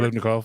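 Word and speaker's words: Biletnikoff: He drafted him when he played at Pitt when he won the, how do you say that, Blitnikoff Award? Blitnikoff, yeah.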